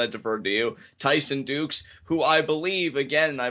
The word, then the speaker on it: Dux: for me uh Tyson how is his last name pronounced one last time for live reactions here Dukes Dukes okay Tyson Dukes I was goingon to say ducks but I knew it was going to be wrong so I'm glad I deferred